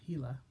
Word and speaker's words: Gila: Gila, referring to the Gila River, Gila, pronounced Gila, which flows from the